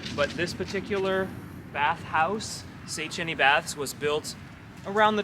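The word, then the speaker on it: Széchenyi: Today we are at Szechenyi baths, that's how you pronounce it.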